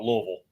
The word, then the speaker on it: Louisville: How do you say Louisville again? Louisville. Okay, so it switches. It's I never call it Louisville. I never call it Louisville.